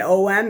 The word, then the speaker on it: Om: When it's A-U-M and O-M, it is pronounced Om, so it is the same.